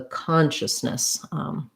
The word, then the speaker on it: consciousness: con just yes um so we'll see a schwa this iou is just a sound um and then this es is going to be an if or an sound at the end so probably look like that in the ipa or they might put